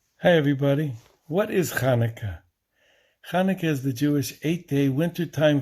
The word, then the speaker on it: Chanukah: a h or variations the hebrew word is actually pronounced with a guttural sound chanukah not chanaka what does it commemorate